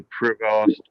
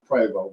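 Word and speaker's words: Prevost: know additional quality to Prost and MCI well it's actually pronounced preo but okay um you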